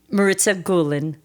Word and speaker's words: Maritza Gulin: embarrassing question sure do do I say your name wrong how do you say my name Marissa G gulan Marissa gulan could have swore when I was talking to